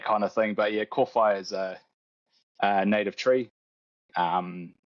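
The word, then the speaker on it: kōwhai: So my company name is pronounced Köwhai Tree Care.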